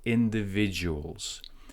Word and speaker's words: individuals: Talented individuals. With the word individuals, primary stress goes on to the V, and then there is a secondary stress that goes on to in.